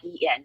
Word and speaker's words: Yan: fine um so Yen I usually tell people it writes y an but it pronounces Yen just like the Japanese currency so it's a very